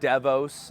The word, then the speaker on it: DEVOS: You can pronounce it DEVOS as well. Think of like development ops, DevOps, or anything like that.